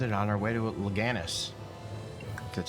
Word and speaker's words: Lenegis: familiarizing ourselves with it on our way to loganus that's how you say it we should be